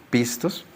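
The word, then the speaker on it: πιστός: fiel la palabra fiel viene del griego pistos se pronunciaré así pistos y tiene tres o cuatro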